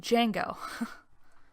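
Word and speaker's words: Django: place well I think it's named Jango and yes the D is silent young folks moving in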